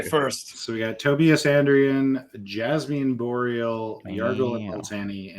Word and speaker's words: Andrion: It's Andrion.